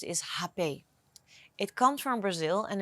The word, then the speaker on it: rapé: way they pronounce is happy it comes from Brazil and in Brazil they don't pronounce the R so as like we do in the Netherlands so let's call it